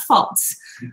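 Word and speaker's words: Pfalz: how it's pronounced so pretend that p is not there um and there's a d in between the l and the z and then you got it false um like my parents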